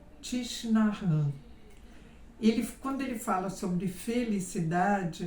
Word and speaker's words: Thich Nhat Hanh: O nome dele é meio estranho de pronunciar, não é? Porque ele só tem 2 vogais, todo o resto é consoante. Mas é algo desse tipo a pronúncia, Thich Nhat Hanh.